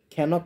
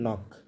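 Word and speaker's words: knock: যেমন ন, খে এন, ও সি কে কী হচ্ছে? খেনক হচ্ছে না, হচ্ছে কি নক। শব্দের শুরুতে তাহলে আমরা বুঝলাম যে শব্দের শুরুতে খে এন থাকলে তার উচ্চারণ নয়ের মতো হয়। এক্ষেত্রে খে অনুচ্চারিত থাকে, খেডা তাহলে নয়ের মতো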